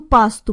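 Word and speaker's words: пасту: pasta please Yabu do pass to pass Alistair did you remember to say poss do with an Uzi at the end remember by ordering pasta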